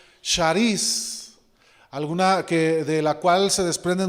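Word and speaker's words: χάρις: La palabra gracia, hermanos, en el Nuevo Testamento es una palabra griega que se pronuncia charis, de la cual se desprenden muchas palabras, como es carisma, ¿sí?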